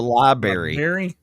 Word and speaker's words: library: I'm going to the library. Look, there's two Rs in there. Library. Library.